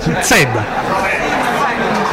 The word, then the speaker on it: Zedda: La Z dura, d'accordo, Zedda. Ragazzi, ma siete...